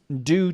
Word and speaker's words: due: u right d u on the british side of the atlantic it's pronounced like a j like my name is so it's like g